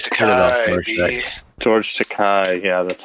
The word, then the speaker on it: George Takei: George Takei. Yeah, that's how you pronounce it.